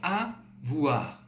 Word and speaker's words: avoir: O e do I, você vai colocar isso com som de UA. UA, tá? Então, literalmente, no português, som de UA, da letra U e da letra A, tá? Então, avoir, avoir. E o R bem, não precisa colocar muito avoir, muito forte. É bem sutil.